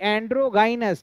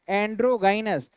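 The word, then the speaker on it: androgynous: और सही उच्चारण भी, सही प्रोनाउंसिएशन भी होना चाहिए कि एंड्रोगाइनस, क्या बोलते हैं एंड्रोगाइनस।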